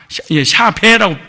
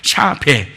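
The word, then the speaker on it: שָׁוְא: 허탄한 것을, 이 허탄한이라는 말은 샤바라는 단어입니다. 샤베라고 발음하죠. 샤베.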